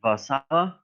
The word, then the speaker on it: Warszawa: Yep, Warsaw, Poland, or as the locals like to say, Warszawa, which is a reminder that Polish and English can have almost the same word and pronounced it two very different ways.